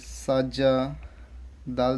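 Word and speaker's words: سَجَدَ: জবর সা হয়ে যাচ্ছে সিন জবর সা জিম জবর যা তাহলে সাজা দাল জবর দা সাজাদা তলে যারা যারা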